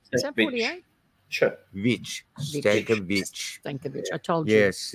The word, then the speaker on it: Stankovic: Is that how I pronounce that? Is that 48? Sure. Vich. Stankovic.